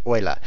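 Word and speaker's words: Euler: started this game is by a guy named OA and I know how to pronounce that because he's a mathematician it's spelled e u l e like eel except you know it's OA cuz I told you F4 now we know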